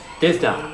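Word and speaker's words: Dydh da: Divda.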